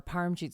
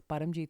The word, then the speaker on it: Paramjit: We did a live yesterday um on Badamjit Singh or Parmjit Singh is how they say it in English I should say but it's Badamjit Singh who was detained by ICE.